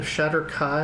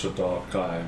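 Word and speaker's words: Shadar-kai: The Shatter Kai? Comanche? The Shatter Kai. Yes. They look like elves. But corpses? Yes. Yes. Shatter Kai. No, I actually think it's pronounced Shaddar Kai, but he also is the The expert.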